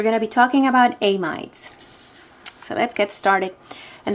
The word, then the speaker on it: amide: to call this acetamine notice that there's a little bit of a pronunciation issue here amides but when you're saying it you say amid um just make sure